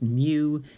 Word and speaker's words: mu: population and times mu squared remember this is pronounced mu and that is just the symbol we use